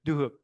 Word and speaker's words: Duhok: Dook. Dhook.